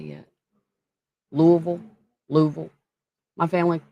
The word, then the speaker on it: Louisville: Louisville. Louisville. My family. My family call it Louisville. What are you doing in Louisville? Like they leave out all of the syllables.